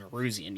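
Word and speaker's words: Nowroozian: Y'all need to spell my last name, Neruzian. Y'all enjoy that. I can spell that.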